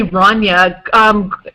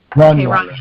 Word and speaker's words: Rania: I say Rania. I could be saying it wrong. Greg, how do you pronounce her name? Yeah, that's right. You're saying it right. Okay. Rania.